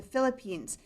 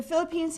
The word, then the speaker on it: Philippines: Now, as Bill said, we've been in Guyana for about 9.5 years, and now we've been asked to transfer to the Philippines.